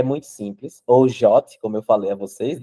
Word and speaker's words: JWT: The suggest pronunciation of the JWT is the same as the English word JOT.